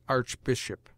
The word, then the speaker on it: Archbishop: a vowel as Archangel and with the English sound of CH before a consonant as Archbishop CH in some French